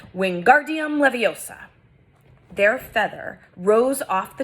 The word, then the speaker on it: Wingardium Leviosa: having much more luck Wingardium Leviosa he shouted waving his long arms like a windmill you're saying it wrong Harry heard Hermione's snap its Wingardium Leviosa making the GAR nice and long you do it then